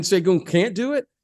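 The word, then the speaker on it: Şengün: Sengun, is that how you pronounce his name? Sengun. Yep, Sengun.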